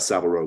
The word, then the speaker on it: Savile Row: scene about about um is it savile rose is that how it's pronounced yeah about savile row which is you know